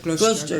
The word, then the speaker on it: Gloucester: Gloucester.